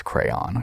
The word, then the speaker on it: crayon: It's crayon.